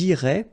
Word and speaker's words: iraient: And then if you look carefully, you get A-I-E-N-T. Okay, but then phonetically it goes like eh. Okay, so technically these form and these forms here are pronounced the same way, and it goes like irait.